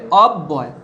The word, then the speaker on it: অব্যয়: বয়ের সঙ্গে যুক্ত আছে, তাহলে বয়টা দুবার উচ্চারণ হবে, কি হবে? অব্যয়, অব্যয়।